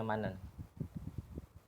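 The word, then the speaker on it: 많은: kemarin manen ini ininya heit-nya hilang ketika pindah ke vokal heit-nya akan hilang terus nanti kan tinggal Man tambah en nnya pindah ke situ Jadi dibacanya manen Oke lanjut bentar setelah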